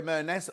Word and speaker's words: Merness: Merness rhymes with Loch Ness.